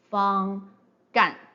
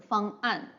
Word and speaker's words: 方案: Again, if we don't use the apostrophe to separate the 2 syllables, well, some people might pronounce it as 方干, right? 方干. So that's why the apostrophe should be adopted here.